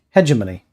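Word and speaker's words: hegemony: Um, Kristoff says it's pronounced hedgemony.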